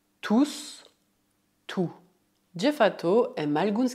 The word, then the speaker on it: tous: Por outro lado, na frase ils sont tous très gentils, ils sont tous très gentils, o S de tous é pronunciado, pois neste contexto a palavra significa tout le monde.